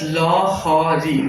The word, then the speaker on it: Lahari: The film's name is pronounced as Lohari. Lohari in Odia means waves.